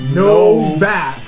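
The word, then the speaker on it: Nowack: He said it's pronounced Novak.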